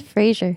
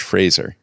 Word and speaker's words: Fraser: I thought it was Frasier. Yeah. No, look at how it's spelled. It's Fraser. Like the It's just Scottish like- Fraser. Encyclopedia. No, there's like- no I, so it's not Fraser. It's the Scottish Fraser.